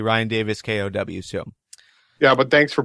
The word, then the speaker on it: Ryan Davis K: last week um I I pronounced his his name as Ryan Davis cow uh but it's really Ryan Davis K so yeah but thanks